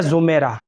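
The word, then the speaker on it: زُمَیرہ: وعلیکم السلام ورحمۃ اللہ وبرکاتہ۔ دیکھیے، زمیرہ صحیح تلفظ زوات کے ساتھ ہے، زوات کے اوپر پیش کے ساتھ زمیرہ، اور یہ کوئی لڑکی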